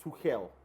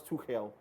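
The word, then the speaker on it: Tuchel: wish and hope that thomas to hell i'm trying to pronounce the german way thomas to hell would imprint his is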